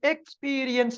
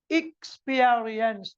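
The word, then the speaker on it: experience: எக்ஸ்பீரியன்ஸ் ஹி ஹாஸ் எக்ஸ்பீரியன்ஸ் அநேகமானவர்கள் இதை எக்ஸ்பீரியன்ஸ் என்று சொல்லுவார்கள் அது அப்படியே பழக்கத்துக்கு வந்துவிட்டது ஆனால் சரியான உச்சரிப்பு ஆக்ஸ்போர்ட் டிக்ஷனரி கேம்பிரிட்ஜ் டிக்ஷனரி போன்ற அகராதிகளிலே இக்ஸ்பியரியன்ஸ் என்று அழகாக காட்டப்பட்டிருக்கிறது அது தொடர்பாக நான் உங்களுக்கு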